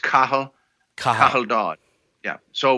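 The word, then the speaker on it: Cathal: oh come on you god okay I'll try cath all wrong nope didn't think so I tried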